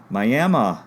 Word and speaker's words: Miami: Miami is pronounced Miami by Southerners.